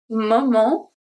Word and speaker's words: moment: C'est le moment. So here, moment, the T is silent.